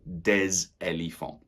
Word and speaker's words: des: And plural, we would say des. Des tables. We pronounce the S, that's right, when followed by a noun. So, des éléphants.